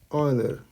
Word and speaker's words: Euler: Leonhard Euler. That's how you pronounce this, Euler.